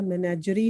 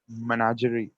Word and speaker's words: menagerie: What is the pronunciation of this? मिनाग्री या मिनाग्री? मैनेजर का मैनेजरी होगा फिर। मैनेजरी, मैनेजरी तो नहीं, Menagerie.